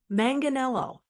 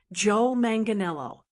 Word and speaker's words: Manganiello: Manganelo. It's pronounced manganelo. Let's say it five times together for practice. Joe Manganelo.